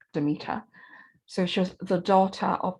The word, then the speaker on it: Demeter: uh the goddess demeter i'm told that in proper greek it's pronounced the meter but i haven't got the flow of that so tonight i'll just stick with demeter so she's the daughter